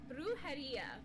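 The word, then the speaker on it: brujería: Bruharia.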